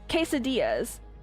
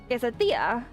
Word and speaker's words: quesadilla: Oh, I hate when people pronounce it as quesadilla. I'm like, nope, that's not it. And they're like, "Oh, so quesadilla." I'm like, "Okay, that's a bit better, but it's not the actual pronunciation.